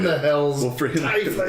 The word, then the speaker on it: tiefling: He is playing a tiefling illusionist named Tiefling? Argyle Hornblower. That is actually the correct way to say tiefling. I say tiefling because it sounds better. And TIE has always been told to me as as time.